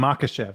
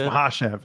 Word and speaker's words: Makhachev: I used to say Islam Makhachev. That's how it sounded to me, but apparently it's Makhachev. Even DC calls him Makhachev.